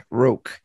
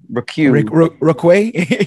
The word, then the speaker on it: Roque: Roque. I pronounce it like Roque.